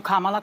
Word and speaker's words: Kamala: let's um Kamala and I'm calling you Kamala cuz for all of those who are mispronouncing it I want you all to know how to say it there go but let's